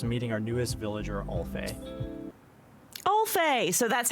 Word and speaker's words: Alf: Alf.